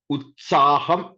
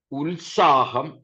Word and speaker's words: ഉത്സാഹം: ഇവിടെയൊക്കെ യഥാർത്ഥത്തിൽ നമ്മുടെ ഉച്ചാരണം ഉത്സാഹം എന്നല്ല, ഉത്സാഹം എന്ന് തന്നെയാണ്.